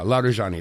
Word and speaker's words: Larijani: Uh yeah, Larjani.